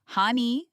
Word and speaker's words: Haney: Her name is pronounced hane. You can think of it as the first part of the name Hannah followed by ni. Pronunciation hani, not haney. Not haney. Simply ha n haney.